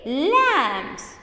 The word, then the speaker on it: lambs: feet trams trams lambs lambs notice the pronunciation children here b is silent here we don't get the b sound it is lambs row go row go